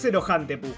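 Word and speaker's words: セロハンテープ: un juego de palabras con la pronunciación japonesa de cinta de celofán, la cual es Zerohantepu.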